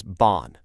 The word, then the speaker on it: 半: The second one here is bon.